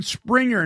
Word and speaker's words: Sprenger: And listen, you can get more from Cameron by visiting him on Facebook at I Am Cameron Springer. Now, this is spelled Sprenger.